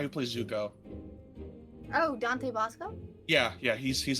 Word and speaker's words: Basco: like how I always know who he is because my brain goes, it's the dude who rhymes with Tabasco.